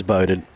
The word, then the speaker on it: Bowden: a fellow who's been bowden I think it is. We asked for player present uh player pronunciations and it's pronounced bow as in go.